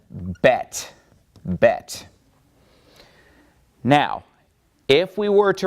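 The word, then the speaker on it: בית: And this letter is called Bet. Bet.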